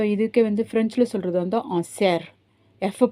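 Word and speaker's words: cerf: ஸோ இதுக்கு வந்து ஃப்ரெஞ்சில் சொல்கிறது வந்து சேர். எஃப் ப்ரொனவுன்ஸ் பண்ண மாட்டாங்க, சேர். ஸோ எஃப் ப்ரொனவுன்ஸ் பண்ணாமல் சேர்னு சொல்லுவாங்க. அதே பெண் மானாக இருந்துச்சுன்னா இன்பிஷ், BICHE, இன்பிஷ்.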